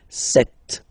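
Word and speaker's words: sept: Then here remember b is not pronounced. Okay. It doesn't exist. So you've got this set sound. Set. Set.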